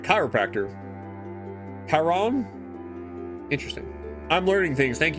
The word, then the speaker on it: Chiron: It's a hard C. Like Charon? Chiron? It's more like Chiron.